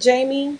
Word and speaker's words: Jami: Is it Jamie? Jamie, is that how you say it? J-A-M-I. Thank you.